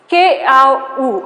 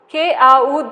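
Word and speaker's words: Kikuyu: Keau, okay, this you can, now we'll have to pronounce it as their tribe says, isn't it?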